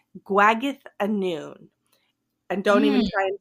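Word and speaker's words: Gwragedd Annwn: or or they're called guag a noon and don't even try and spell it because it's not spelled how you think I'm that that th sound is a double D it's like Welsh or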